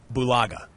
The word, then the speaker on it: Bulaga: now your last name tell me if I've been mispronouncing it the whole day so far how how well bulaga that's right you're you're good you're